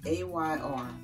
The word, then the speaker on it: Ayr: If you've never heard of Ayr Skin Care, first off, so Ayr is A-Y-R, but it's pronounced like the air, A-I-R, that you breathe. So it's pronounced Ayr.